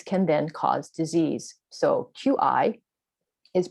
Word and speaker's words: qi: So QI is pronounced qi, so just like kimchi.